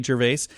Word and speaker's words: Gervais: big fan of Ricky Gervais I actually heard somebody refer to him they said like I never know how to say his name so I just remember it rhymes with jerkface Ricky jerkface that's one